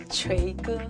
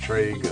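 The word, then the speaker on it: 锤哥: you remind me yeah it's try good TR it's cute try good yeah Trey means like the hammer and the good means like the brother B it's try good yeah that's cute thank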